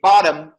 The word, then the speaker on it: bottom: In American, we have flap T. If you say bottom, that T is flap. We call it flap T. But in British, you just pronounce it. If you want to sound like Cockney, you just say bottom. Don't T. Without pronouncing the T. Just make it bottom.